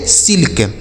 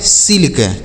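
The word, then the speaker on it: silk: एल के इसे पढ़ेंगे सिल्क एस आई एल के सिल्क एस आई एल का सिल्क हो गया के आई डबल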